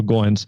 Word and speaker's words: Goins: when we first met his last name rhymes with coins so Goins and I don't think